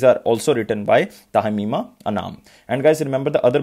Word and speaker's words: Anam: Answer of this question is Tahmima Anan or Anam. So remember Tahmima Anam.